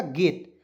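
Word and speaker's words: gate: ऊपर बताया था क्यों देखिए जी से ग लिखते हैं टी से ट लिखते हैं अंतिम में ई आता है उसको उच्चारण ए के रूप में कर लेते हैं ठीक है क्या हो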